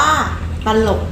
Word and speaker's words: ตลก: คะ ได้ แก่ คำ ว่า ตลก อ่าน ว่า ตลก นะ คะ ตลก เนี่ย ตาก เอาะ เขียง อ่ะ